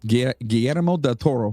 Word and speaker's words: Guillermo del Toro: yes yeah say his name one more time guillermo del toro that's good that's good did i just turn